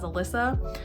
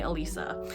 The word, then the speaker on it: Alyssa: real name is Elisa it's spelled Alyssa which I know usually people pronounce as Alyssa but for some reason my parents spelled it that way and they named me Elisa so I don't know